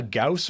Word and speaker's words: Gauss: can hone this in ah Gauss rhymes with house okay so it's it's